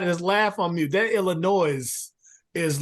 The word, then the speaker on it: Illinois: come on now okay Illinois is the correct pronunciation but Illinois it Rose off the tongue better it just does I'm forcing myself to I'm stopping short it's like you you're stopping the route short when you say Illinois I mean you're not wrong he's not wrong it just sounds better I know the correct pronunciation to